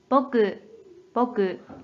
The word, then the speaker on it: 牧: 한편 음으로는 僕、僕、 로 읽어줘요.